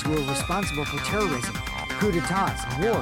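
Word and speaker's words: coup d'état: I remember hearing that they're dangerous guys who are responsible for terrorism, coup d'etats, and wars. Coup d'etat! That's how you pronounce it.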